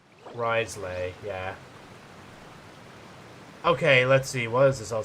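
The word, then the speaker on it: Wriothesley: Also, before you make the same mistake as I did, it's pronounced Risley. Risley, yeah.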